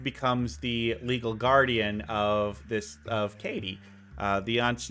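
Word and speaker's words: Cady: So basically what happens is that the young girl who's like the main girl, her name is Katie, but it's spelled C-A-D-Y because they hate us.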